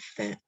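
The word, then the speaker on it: ف: Fa, pronounced from the edge of the upper front teeth and the wet part of the lower lip. So fa comes out when the edge of the top front teeth touches the inside of the bottom lip.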